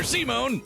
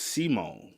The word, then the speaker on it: Simon: Pronounced Simone. Simone. Pronounce it. Not Simon, but Simone. Simone.